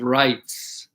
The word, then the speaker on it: Rights: Okay, so it is called the Bill of Rights. The Bill of Rights. It's the first 10 amendments to the Constitution. Yeah, so the S needs to be pronounced, so rights.